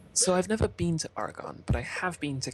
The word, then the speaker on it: Oregon: It's now I'm gonna because I used to say it Oregon, but that's wrong. It's Oregon. Like organ.